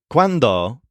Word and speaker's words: cuando: of a tricky one the word quando means when if you want to pneumonic for this the stress is on wand so maybe you're thinking of when you have a magic wand or quando you have